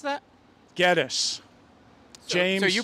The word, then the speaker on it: Gettys: Tim, how'd you pronounce that? Gettis.